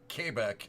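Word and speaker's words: Québec: the cool things um if you go to Quebec or kbec as it's pronounced um if you want to get a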